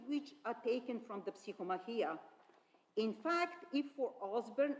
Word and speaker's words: Psychomachia: Catholicon a separate lemma, Psychomachia, where he states that it is a work by Prudentius, meaning a battle of the soul. And it is pronounced with the stress on the penultimate syllable.